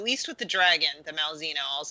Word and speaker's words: Malzeno: Malzeno. Yeah, MAL. Malzeno. Just think like Grand Zeno from.